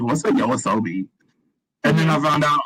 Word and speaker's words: YOASOBI: Yoasobi, yeah, because I think that it got big on TikTok. Okay, yeah. Yeah, I see them everywhere. Yeah, because I was like, what's a Yoasobi?